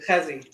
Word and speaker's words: Hezi: And it's Chezzy, is that how you say it? Hezi. Just Hezi. with a hey, yeah.